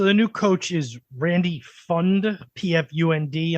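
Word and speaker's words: Pfund: new coach is Randy fund pfu I'm guessing the p is silent on that um he had been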